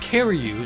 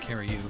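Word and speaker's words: Curieux: score for the alagas CaRu that's actually how it's pronounced CaRu I'm going to go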